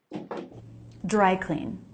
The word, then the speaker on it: dry clean: It's a compound word written with a space, and a compound word has stress on the first word, like eyeball or bedroom. Dry clean. So rather than clean, it's clean, unstressed.